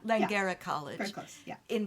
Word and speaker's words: Langara: You recently developed a course for, and you're going to have to help me on the pronunciation, the Langara Langara. Langara College.